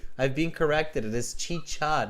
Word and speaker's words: chicha: far from peru right have you ever the pronunciation is chicha no chica ah see i knew there was a good